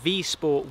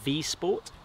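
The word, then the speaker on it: Wisport: So this is the V-Sport Woodcraft in brown. It looks like it's spelt Wii Sport, but because it's Polish, they pronounce it, I believe, V-Sport.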